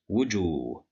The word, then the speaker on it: وجوه: But here we have the letter Jim is controlled by Dhamma and followed by wow, so here we need mad بالواو. We will pronounce it as wujuh, wujuh, wujuh.